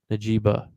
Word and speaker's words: Njigba: My next guy, Jackson Smith Najiba. I don't know how to say his last name. Butcher these names so bad he spelled them. Me neither. But Jackson Smith and Jigba. yes, Jigba.